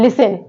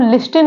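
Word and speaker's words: listen: पढ़ते हैं वच नेक्स्ट वर्ड है लिसन लिसन में क्या साइलेंट लेटर है टी तो इसको हम लिन नहीं पढ़ते लिसन पढ़ते हैं क्या पढ़ते हैं लिसन नेक्स्ट वर्ड है ऑटम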